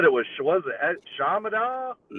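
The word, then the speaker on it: Chaminade: Shamanad. Yeah. Yeah. So, the high school I went to is called Shamanad. It's a It's spelled C H A M I N A D E.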